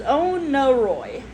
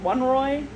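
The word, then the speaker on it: Oneiroi: It is Onieroi. It's o n e r o i. I was saying like one roy.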